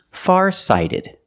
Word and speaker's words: farsighted: better that's why he's farsighted pronunciation farsighted the t is pronounced like a fast D because phonetically it's between vowels pronunciation sided sighted farsighted